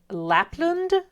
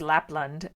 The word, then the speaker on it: Lapland: We learn about something called Lapland or Lapland, and it's, I don't know, there aren't many places that are specifically mentioned. So my question was, where is Lapland?